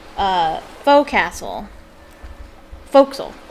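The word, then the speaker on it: forecastle: us how to pronounce pronounce uh faux castle foxel it's pronounced foxyl but it's spelled faux castle or forecast it's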